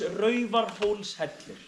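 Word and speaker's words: Raufarhólshellir: I will teach you the name of the cave is RAR Hol header please practice pronouncing the name this is the safe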